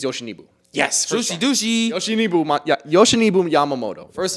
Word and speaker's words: Yoshinobu: I want to pronounce this name right, so I have it pulled up. Yamamoto Yoshinobu. I think it's Yoshinobu.